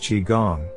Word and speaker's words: qigong: a few lessons or classes what is Qigong pronounced Qigong Qigong is an internal process that has external